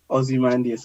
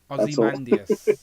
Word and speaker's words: Ozymandias: Yeah, there's no way I can even begin to pronounce that. Say it again, Z-Man. Ozymandias. I just got it from Watchmen. That's Ozymandias.